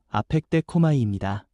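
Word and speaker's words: ἀπεκδέχομαι: 여기서 기다린다는 말은 헬라어 발음으로 아펙데코마이입니다.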